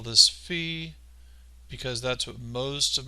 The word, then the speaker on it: phi: and it is spelled p h i and it is either pronounced fee or it's pronounced phi you know it sounds like in the english language fi or phi depending on other letters